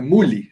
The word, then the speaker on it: Müller: Müller, fala assim, é Muli, se escreve Muli.